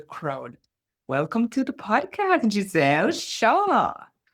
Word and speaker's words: Jezelle: Welcome to the podcast, Jazelle.